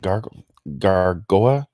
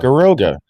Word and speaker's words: Garoga: one of the gargoyle, is it gargoa? Oh no, Garoga. Garoga. Garoga. That would be how you pronounce it.